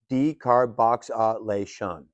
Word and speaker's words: decarboxylation: Now, we get to one of those intimidating-looking cannabis words that is actually pretty simple, decarboxylation, pronounced decar-box-a-lation.